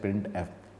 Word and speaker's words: printf: It is pronounced as printf।